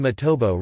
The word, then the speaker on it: Matobo: The current name Matobo reflects the correct vernacular pronunciation of the area.